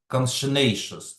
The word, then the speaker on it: conscientious: Типу consciousness – це свідомість, а тут виходить conscientious. Тут такий наголос, да? Conscientious, такий наголос цікавий.